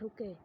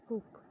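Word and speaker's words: Hooke: तो उसका आंसर है Robert हुके। The term cell was coined by Robert हुक। ठीक है, इसको हुके नहीं कहना है, रॉबर्ट हुक कहना है। ठीक है, हुक, ई साइलेंट है यहाँ पर।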